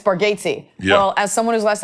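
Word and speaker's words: Bargatze: I think your daughter mispronounced your name." He was like, "Buddy, you've been doing it for years." Yeah, it's just the what is it? Bargatesy. It's Bargatesy.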